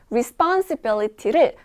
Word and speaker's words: responsibility: 발음을 만들어 볼게요 responsibility 가끔 가다가 단어 하나를 나눠 가지고 막 responsibility 막 이렇게 하시는 분들 있죠 뭐 그렇게 나눠 갖고 발음하시면 안 되고요 한 번에 부드럽게 가셔야 돼요 responsibility responsibility 강세를 주의하시면서 요거 오늘 발음 잘